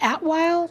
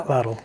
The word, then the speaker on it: Atlatl: go right into the, I'm not going to pronounce this correct, Atwile? No. Atlatl. Atlatl. I've been practicing it, apparently not enough.